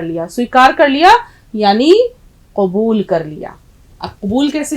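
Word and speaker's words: قبول: plus वाव plus लाम अब देखिए इसका आपका उच्चारण बिल्कुल ठीक होना चाहिए हसने वाली बात नहीं है ये उच्चारण ठीक नहीं होगा तो अगर आप में से भी किसी का निकाह हो रहा होगा तो बोलेंगे कुबूल है तो बड़ा खराब लगेगा इसलिए काफ की आवाज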